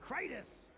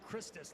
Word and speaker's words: Krytis: I was saying it wrong on commentary this whole time. Krytis. I wanted to say Christus like he was a Roman gladiator or something.